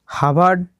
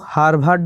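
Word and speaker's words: Harvard: He received PhD from হার্ভার্ড university in 1988, তিনি হার্ভার্ড বিশ্ববিদ্যালয় থেকে পিএইচডি ডিগ্রি পান 1988 সালে। দেখো রিসিভড কথার অর্থ হল পান বা পেয়েছিলেন, মনে রাখবে এইচ এ আর ভি এ আর ডি, এটা কিন্তু হার্ভার্ড নয়, এটার উচ্চারণ হবে হার্ভার্ড।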